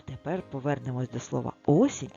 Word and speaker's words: осінь: А скільки в слові осінь складів давай розіб'ємо це слово на склади сень скільки складів два абсолютно правильно наголос у слові осінь падає на перший склад тож Давай ще раз